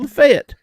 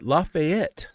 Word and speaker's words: Lafayette: D Don from Lafayette not lafette but lafette Louisiana that's how they pronounce it man uh Hey